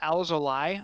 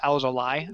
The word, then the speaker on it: Alzolay: And I believe the way you pronounce it is Alzolay. I heard that A-Y in his native tongue is Alzolay.